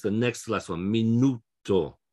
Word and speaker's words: minuto: the next last one minuto the stress is on the next last syllable but if it ends